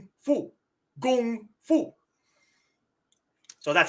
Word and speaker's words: gung fu: Yes, kung fu is an anglicization of kung fu. Gung fu.